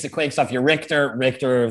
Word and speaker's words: Richter: Richter, thinking of earthquakes, rhymes with mixture.